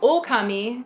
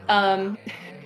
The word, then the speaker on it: Ōkami: So but yeah, Ōkami, so there's a long O there. Ōkami. It says that when you pick the when I had to pick what game we were streaming, there was a macron over the O.